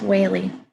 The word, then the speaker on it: Whaley: It's Whaley. Perfect. I promise you I won't mispronounce it as we go through this morning.